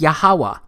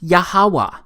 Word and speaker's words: Yahweh: simple back then that it vocalized each consonant with an ah sound without specifically marking that sound between consonants. So this YHWH, it's pronounced Yahweh.